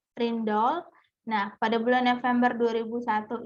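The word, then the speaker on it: Rijndael: Jadi mulai bulan Oktober 2000 mengumumkan untuk memilih Ridsdale, ya bacanya Rindal.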